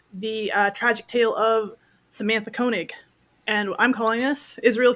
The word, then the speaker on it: Koenig: her last name is Koenig right am I pronouncing that right Koenig Koenig yes Koenig all right so the Fatal air uh the